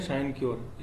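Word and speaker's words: sinecure: सिनक्योर, ठीक है, इसको बोलेंगे साइनक्योर।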